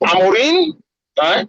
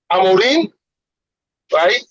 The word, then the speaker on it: Amorim: This game was was won by Pumin Amarin, right? Because that's how you pronounce his name. Amarin, right?